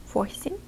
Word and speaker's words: восемь: Восемь or eight. Восемь. Again, soft sign in the end. It doesn't have any pronunciation.